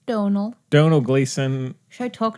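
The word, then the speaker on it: Domhnall: Donald.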